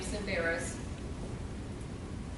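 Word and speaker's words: Tsemberis: And out of New York, a guy named Sam Simbaris, the silent T at the beginning.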